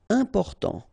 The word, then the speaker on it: important: Important. So final T not pronounced. And then remember, you've got this EM, and after that it's a consonant, so it is here nasal.